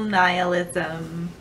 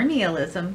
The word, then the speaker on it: nihilism: its Cynthia from cheerful nihilism or kneel ISM both of those pronunciations are correct I have not filmed